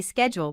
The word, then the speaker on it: schedule: the accent for example Americans say schedule with a SK sound while British people say it with a sh sound wow it's like learning